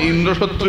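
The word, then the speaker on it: ইন্দ্রশত্রু: না বৃত্তাসুর বদের সময় ইন্দ্র শত্রু বিবারস স্বরের উচ্চারণে এদিক ওদিক হয়ে গেল ইন্দ্রটা জোরে হবে না হয় শত্রুটা জোরে হল ইন্দ্র শত্রু বিবার হয়ে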